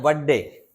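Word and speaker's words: birthday: बर्थडे। बर्थडे नहीं बोलते हैं ना? बर्थडे बोल देते हैं। है ना? बर्थडे बोलना चाहिए। आर को साइलेंट करके।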